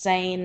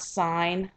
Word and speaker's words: Seine: runs right through paris it is pronounced sane not sign if you've ever been